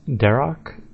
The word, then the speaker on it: Darok: The second one is Darok, which is actually pronounced Darok. I think some people already pronounce it like that, but I always pronounce the H, so Darok.